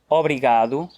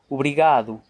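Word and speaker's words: obrigado: R: It's like us saying 'Óbrigado', and correctly it should be 'Ubrigado'.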